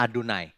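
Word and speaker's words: אֲדֹנָי: orang Yahudi tidak pernah Jadi kalau Bapak Ibu membaca teks Ibrani ini bacanya adunai ya diterjemahkan Tuhan huruf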